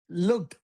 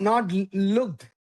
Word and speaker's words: looked: looked. I'm going to say both words, right? Look. Look. Looked. Looked. Duh. Duh. You need to say the D.